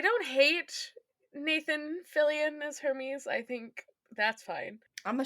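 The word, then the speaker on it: Hermès: He's like mispronouncing his own name because it's spelled like Hermes the brand with an accent.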